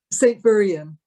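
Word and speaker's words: St Buryan: Real quick, before we talk about your CD, your new CD that's out, St. Buran, am I pronouncing that right? St. Burian. St. Buria session? Burian, yeah.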